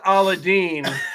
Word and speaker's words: Aladdin: well hey he Sid you should know it's pronounced aladine oh here we go